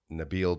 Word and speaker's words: Nabil: it properly right and it's actually pronounced nabil so Nabeel the three oligo well